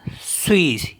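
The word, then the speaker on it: suis: एस यू आई एस तो इसको पढ़ेंगे हम स्वी स्वी मी होता है एम स्वी नेक्स्ट है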